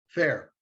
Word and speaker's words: Ferre: Did I pronounce that correctly? Fair? Fair.